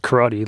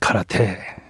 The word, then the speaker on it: karate: And you pronounced it karate like we do in America, but the correct pronunciation is karate.